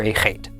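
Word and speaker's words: אָח: The aleph is silent, and then the kamatz makes the sound ah. And finally, the chet makes the sound ch. Altogether, this is pronounced ach.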